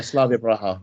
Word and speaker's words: Slavia Praha: They had a draw with Slavia Praha. I think I pronounced that right. Yeah, Slavia Praha.